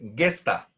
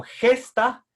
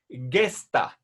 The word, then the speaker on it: gesta: Verán, una norma de pronunciación de latín, la G en latín siempre se pronuncia como G suave. No leamos esta palabra como gesta, que es la pronunciación castellana, sino gesta, como si estuviera después de la G una U, gesta, res gesta.